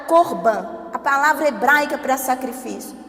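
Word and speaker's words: קרבן: E ele quando vai falar sobre a palavra sacrifício lá no Antigo Testamento, ele diz o seguinte: "A palavra para sacrifício é pronunciada corban".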